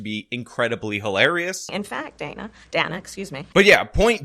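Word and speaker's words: Dana Bash: question that was just asked by, apparently it's Donna Bash, which by the way, Kamala mispronounced, and she did it on the A,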